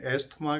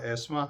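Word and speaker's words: asthma: बिगड़ी हुई इंग्लिश में हम एस्थमा कहते हैं, लेकिन कहते हैं करेक्ट प्रोनाउंसिएशन उसका एस्मा है, सांस की तकलीफ़ कह रहे हैं।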